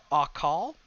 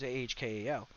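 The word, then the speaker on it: אכל: And it doesn't really define devourer there, other than just the word akal, which is not correct because I don't speak correctly. But it's ah. The pronunciation is ahkal, which is literally to eat.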